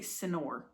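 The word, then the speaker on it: señor: before you don't say senor right how do you say this word senor right Senor n so it's got a it sounds like it's got a y in it Senor right it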